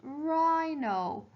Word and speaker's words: rhino: rhino so i'll write rhino and remember there's a silent h here after the r right no and then